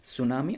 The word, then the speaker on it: सुनामी: एक साइलेंट वाड है T silent वड है मतलब टी साइलेंट लेटर है टी जो कि टी एस यू एन ए एम आई सुनामी याद रखना सुनामी